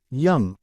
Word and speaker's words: Yonge: The longest street in the world is Yonge Street, pronounced Young, referred to as Main